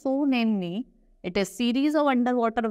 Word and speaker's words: tsunami: very dtive now Tsunami Tsunami is pronounced so namely it a series of